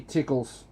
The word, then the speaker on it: Zyklus: Chickles. Chickles product, but it's spelt Zyklus, but it's actually Tickles.